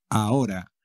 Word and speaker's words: ahora: conoce todo el mundo ahora a orar y como siempre la H no se pronuncia nunca en castellano Never The age ahora